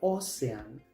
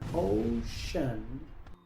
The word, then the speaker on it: ocean: Muchos pronuncian esta palabra osean, pero aquí la c se pronuncia como sh. Así que esta palabra se pronuncia ocean.